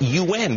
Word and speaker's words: yuan: And I should say, I'm glad that I've actually learned how to finally pronounce the Chinese currency. It's yuan. We've been talking yuan for all these years.